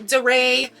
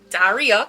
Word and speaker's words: Daria: So first things first, my name is Daria, not Daria, not Daray, not Daria. It's Daria, correct pronunciation.